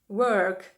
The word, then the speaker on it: work: роботу знову ж таки Хочу звернути вашу увагу на вимову цих двох слів WOG Work Work - це прогулянка це гуляти якщо це дієслово тут у нас звук о в слові робота або працювати там звук Не забувайте що ми витягуємо губи трубочку Тому що тут є літера w А вона вимовляється Саме так Work Work I go